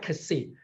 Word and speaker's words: Xi: We pronounce it KSI, Kasi.